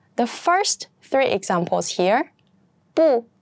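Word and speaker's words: 不: first three examples here bu is pronounced as the second tone because here sh and CH they are both the fourth tone that's why bu is pronounced as the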